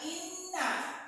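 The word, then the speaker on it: إنّ: Mendengung, tidak ina tapi inna. Dua harokat, mendengung dulu.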